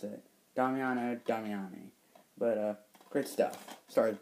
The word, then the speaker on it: Damiani: a really atmospheric it's directed by D Damiano damiani yeah that's how you pronounce it Doo damiani but uh great stuff starts Bert Young from